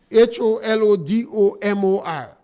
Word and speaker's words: Holodomor: our people to research the word holodom. I think that is the pronunciation for it. When you meet an individual who cannot speak English good, it's difficult to ask them to pronounce words from the Slavic countries. But it's holodoma, Holodomor.